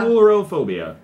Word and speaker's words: coulrophobia: It It has the pronunciation right there. It's Chorophobia. Coulrophobia.